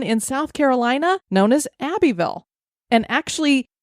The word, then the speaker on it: Abbeville: South Carolina known as Abbyville and actually the end is supposed to be pronounced like it just has VL so I think it's kind of like a Louisville oh kind of thing